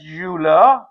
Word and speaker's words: Euler: Written as Euler, pronounced as Euler, it reads that e raised iota theta is equal to cos theta plus iota sin theta.